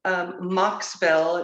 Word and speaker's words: Mocksville: So as I said to Marie, today I'm in Mocksville. It's spelled MOCKSVILLE in North Carolina, where I opened up Main Street Brokers.